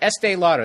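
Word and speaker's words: Estée Lauder: pick estee lauder i just said it right estee lauder there it is promote breast cancer awareness by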